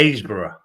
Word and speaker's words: Happisburgh: There's a place called it's spelt HAPPISBURGH.